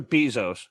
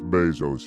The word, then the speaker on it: Bezos: i guess all right is it bezos or bezos it's bezos he's being a dick intentionally mispronouncing words azkaban isn't it jesus no jeff